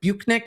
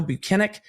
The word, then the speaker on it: Bukhenik: up with Trooper B Sergeant buenik which is how he pronounced it his name pronounced it how he pronounced his name When Alan Jackson started cross-examination today which actually Sur surprised me um he had said bunck and he's like no buenik and then kind of smiled and